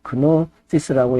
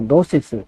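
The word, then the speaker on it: gnosis: 그노시스라고 했는데 주로 이제 노시스, 지 발음은 안 하고 노시스라고 그럽니다.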